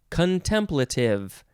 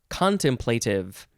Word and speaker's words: contemplative: are intention and expectation next word is contemplative or contemplative it is the first form